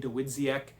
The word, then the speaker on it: Dawidziak: Uh it was published in 19 uh 84 and then 13 years later Mark Dwitziaak the writer and that's how you say his name Ditziac uh wrote this revised version. Dizzyak also wrote a really good book on Columbbo